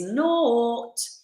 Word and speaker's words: naught: I made a one syllable word into 2 syllables. I would never say do that unless it's like really helpful for the character and a bit of fun, or part of your rehearsal process. They'll say 'tis naught. Naught. It's 1 syllable.